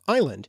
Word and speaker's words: island: In another example, the S was added to island because of the mistaken belief that it was connected to the Latin-derived word isle, from Latin insula, when in fact